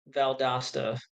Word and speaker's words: Valdosta: Valdosta, pronounced like pasta. Valdosta.